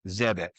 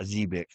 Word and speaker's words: Zebec: And apparently I've been pronouncing it wrong. It's Zebeck, not Zebic.